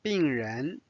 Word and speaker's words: 病人: 病人 Notice second tone for 人。 Now let's study this conversation. 这个医生很好。这个医生很好。是的，他的病人很多。